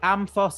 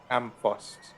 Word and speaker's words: Amthos: of the Amthos Apothecary. How do you spell that shit? A-M-T-H-O-S. Amphos.